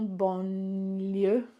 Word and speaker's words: banlieue: So ma maison se trouve en banlieue. So bon, li, you. But when this N and L happens, your tongue is pressing against your hard palate.